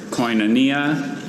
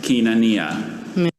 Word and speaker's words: koinonia: Are there any alternate pronunciations? There's koinonia and koinonia.